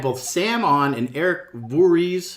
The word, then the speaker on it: Voorhees: And they had both Sam on and Eric Voorhees. How do you pronounce his name? It's Voorhees, or I don't know. That's good. Voorhees, yeah.